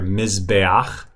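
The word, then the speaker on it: מזבח: And then also an example like now this word right here, mizbeach, that's the furtive patak. It's pronounced right before the het. That's kind of a diphthong, and diphthongs are erased in the construct. So mizbeach becomes mizbach.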